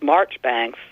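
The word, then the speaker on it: Marjoribanks: no way I mean how Marjorie Banks becomes Marchbanks or it's or law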